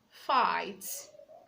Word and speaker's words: fight: silent laughs laughs okay you have words like fight fight the G is silent letter G can also